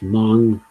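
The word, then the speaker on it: Hmong: And Judith says it's pronounced as Mong. The H tells you to blow air out your nose as you say Mong.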